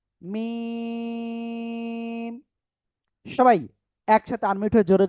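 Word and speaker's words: م: এই দুই ঠোটার বাইরের অংশ শুকন জায়গা থেকে অক্ষরটা উচ্চারণ হবে। ঠিক আছে? মিম চার আলিফ টান হবে। মিম সবাই একসাথে আনমিউট হয়ে জোরে জোরে বলেন তো সবাই সবাই আলহামদুলিল্লাহ।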